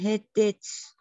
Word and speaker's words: headaches: So it's headaches. Head and aches, right? So when you combine like that, and then you pronounce it headaches. So the D is really like a soft like that, okay?